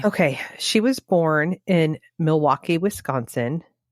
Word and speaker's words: Milwaukee: she was born in Milwaukee Wisconsin it's actually pronounced MW mle which means the good